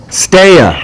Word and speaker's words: Stea: I don't think I've ever heard her say it, but it's pronounced Stea. Stea. Stea, like Stea. Like stay away.